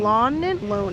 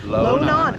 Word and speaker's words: Lonan: Lonan. No, Lonan. Lonan. I was saying it wrong. like non-bread. Lonan.